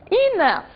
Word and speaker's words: enough: Enough, suficiente, também termina com esse som, também é grafado desta forma.